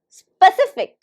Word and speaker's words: specific: They get confused in the word stress. So they stress the first syllable, but first syllable is not stressed. So listen very carefully. Where is the stress? Specific. Specific. Specific. So how many syllables do you think it has? Specific. Specific. It has 3 syllables.